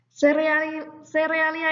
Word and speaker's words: cereal: Nah, serealia itu apa toh? Serealia itu dikenal juga sebagai sereal atau biji-bijian. Bahasa Inggrisnya adalah cereal, itu ya tulisannya cereal, kita bacanya sereal.